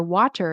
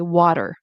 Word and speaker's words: water: Or instead of saying like um butter or water, you want to say water. butter.